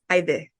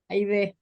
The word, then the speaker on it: Haydee: name the way it's originally supposed to be pronounced and not the Americanized version. And it's Aide. Aide.